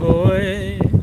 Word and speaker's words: hoy: Hey, mucho viento hoy. You don't pronounce the... Oh, sorry. I sometimes forget that. I know that it's just silent, just like my name.